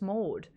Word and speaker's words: Maude: Yeah, but Pailang, they would pronounce the R in that name. So they would say Maude. Maude. And I'm like, there's no R in my name. It's just Maude.